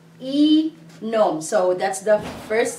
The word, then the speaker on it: inom: What is the first syllable of the word inom? It's just one letter, right? The letter I. E-nom.